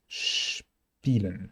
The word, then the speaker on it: spielen: And SP, at the beginning of a syllable, in a stem, combines this sound we just saw with a P. Spielen, spielen, spielen.